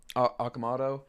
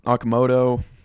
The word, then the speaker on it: Okamoto: So, I love the addition of uh Okamato. I'm gonna have to learn how to say the name right. Um Okamoto, that's probably more correct.